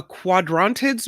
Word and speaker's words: Quadrantids: I have an article in front of me that says we're going to see January 3rd and 4th, a quadrantids meteor shower. Is that right? Yeah, good pronunciation.